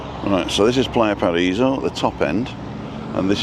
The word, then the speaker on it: Playa Paraíso: It's Playa Paraiso because there's a little accent over the I.